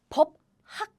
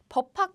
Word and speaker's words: 법학: So the pronunciation is not 법학. No. We say 법학.